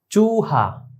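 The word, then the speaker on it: چوہا: ইউসুফ, ইউসুফ আলাইহিস সালাতু ওয়াস সালাম, উর্দুতে উচ্চারণটা কিরকম হয়? ইয়া, ওয়াও পেশ, ইউ, ইউসুফ। চুহা, চে, ওয়াও পেশ, চু, হে আলিফ, চুহা।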